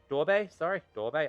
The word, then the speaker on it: Durbe: Durbe.